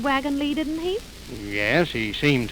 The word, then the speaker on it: wagon-lit: This is the wagon Lee office. Why, it's spelled wagon lits. I know it's spelled lit, but over here they pronounce it Lee.